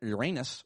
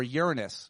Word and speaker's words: Uranus: Astronomers discovered a tiny new moon which had been hiding outside the rings of the planet Uranus or Uranus. Which pronunciation do you like? I like Uranus a lot more.